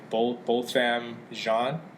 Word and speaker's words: Botham Jean: way, the victim's name is, how do you pronounce his name? Botham Jean.